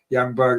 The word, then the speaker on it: Ljungberg: Grot says, Youngberg, that's the best I can think of how to write down, how to pronounce. Oh, Ljungberg.